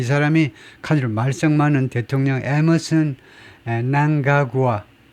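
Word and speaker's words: Mnangagwa: 무가의 후계자 근데이 사람이 카드를 말성만은 대통령 에머슨에 난가구아 엠을 발음하지 않고 그 난가구아라고 발음한다네요.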